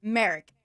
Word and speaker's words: Merrick: I get it off how do you pronounce it Merrick like America you couldn't